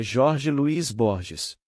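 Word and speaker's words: Jorge Luis Borges: Se pronuncio bem o espanhol, é Jorge Luís Borges. Para quem fala espanhol, é Jorge depois Luís e Borges que partiram deste mundo recentemente.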